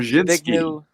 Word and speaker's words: Brzezinski: And very clever, devious fellow, I can't pronounce his first name correctly, Zygabru Yep, Brzezinski.